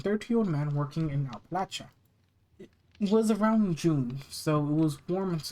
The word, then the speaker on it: Appalachia: Opalacha Opal. I was mispronouncing that heavily though.